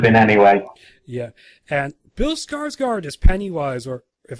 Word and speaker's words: Skarsgård: they would have been anyway yeah and those skarsgård as penny wise or if I'm gonna be proper pronunciation eared Scottish chord yeah yes he's he's really good if a